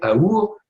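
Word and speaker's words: אור: Le mot or vient du mot hébreu aor qui veut dire lumière. Et entre parenthèses, la lettre du milieu, le vav, se prononce ou aussi, et c'est aour, et on a confondu ça, on l'appelle l'amour.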